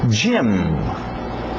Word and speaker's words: gym: Gym, gym, gym. Parece o nome Jaime, gym também, mas vem de gymnasium, ginásio, comprido.